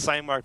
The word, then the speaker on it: SciMark: The name is actually pronounced Cymark because it's a variation of we spoke about Claude Hopkins earlier.